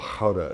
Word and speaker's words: Gouda: Or an aged Gouda, or Gouda as they say in the Netherlands.